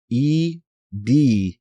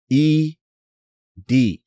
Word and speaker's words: ed: So a few folks definitely wanted to point out that the text editor ED is indeed pronounced ED.